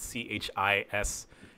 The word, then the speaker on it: chismis: I think it's spelled C-H-I-S-M-I-S, chismis.